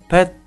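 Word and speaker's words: เผ็ด: Слово «пэт» произносится мягко и при этом очень коротко.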